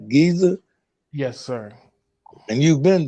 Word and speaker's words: Giza: and the pyramids of Giza, did I say it right? Giza?